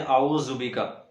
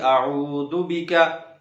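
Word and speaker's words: أعوذ: کریں گے اعوذ بک۔ یہاں پر عموماً پڑھتے ہیں اعوذ بک، یہ زا نہیں، یہ ذال ہے، اس کو نرمی سے ادا کیا جائے گا۔ حمزہ زبر ا، عین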